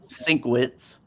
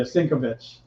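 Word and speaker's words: Sienkiewicz: uh Bill Bill uh bill can see Bill cinquitz I can never say his name right yeah okay I spend corrected yeah cincovitch yeah thank you [ __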